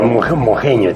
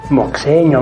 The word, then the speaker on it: moxeño: entre aimaras quechua moxeño no diga mojeño tiene que deciro sí es una x que refleja lo que